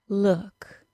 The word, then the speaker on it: look: Two examples of the OO spelling being pronounced as the U as in put sound and not the OO sound are good and look.